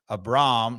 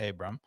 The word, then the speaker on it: Abram: out at Memphis that it's um a Braum not Abram Abram it rhymes with Philip LOM I did hear that